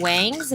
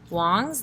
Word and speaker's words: Wong: a lot of times everybody likes to call it Wang's but it is pronounced Wong's like log and of course Grand